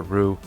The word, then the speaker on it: Ryu: players do this and i always pronounce it ryu i know it ryu or rue but rayu that's what i grew up saying and i play street